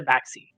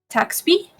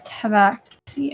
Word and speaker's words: tabaxi: And it's called Taxby? Tabaxi. Tabaxi. Oh. Yeah. So it's like tab and then axe and I. Oh, Tabaxi.